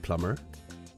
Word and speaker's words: plumber: word is silent lamb the B is also silent in words like plumber and death this happens quite a